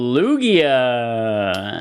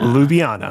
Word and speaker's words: Ljubljana: Oh, Lugia. Ljubljana.